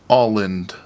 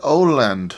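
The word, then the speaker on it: Åland: back into Google and it was all l alland right like you're saying all land all land but I also did find one video that said Oland they're like Oland God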